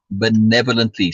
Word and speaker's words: benevolently: He smiled uh, benevolently and asked, Benevolently. and sorry, say it again. Benevolently. Second syllable. Benevolently.